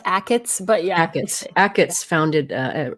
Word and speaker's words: Achatz: I'm not sure how to say his name. Schatz. It's actually pronounced Achatz, but yeah.